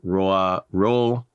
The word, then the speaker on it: Roald: But um yeah, the D is silent in ro Amunson. If I focus I can say I can pronounce it correctly. If I'm getting worked up and I'm talking fast, I'll probably mess it up because every time I have ever read his name, it was Rald.